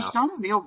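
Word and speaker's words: Scott Arniel: Scott yeah Scott arneal yeah there we go Scott arneal really the head coach of yes he is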